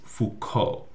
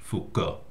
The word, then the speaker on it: Foucault: is Foucault.